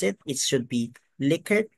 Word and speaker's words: Likert: Define what is a liquor scale liquor scale pronounced as liquor not lier so a lot of people mispronounce it it should be liquor not lier it is named after it's in Mentor an